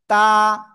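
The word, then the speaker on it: ت: unmute এই যে এক আলিফ টান এক আলিফ জাস্ট তা মাশাল্লাহ আলহামদুলিল্লাহ লা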